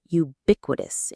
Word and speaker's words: ubiquitous: The stress is on the second syllable. Bic. Ubiquitous.